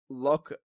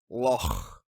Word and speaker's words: Loch: Loch. Yeah, this Scottish guy is saying it pisses him off that people say Loch. It's Loch. Loch.